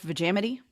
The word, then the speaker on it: Vegemite: Yeah, I believe it's pronounced vamity.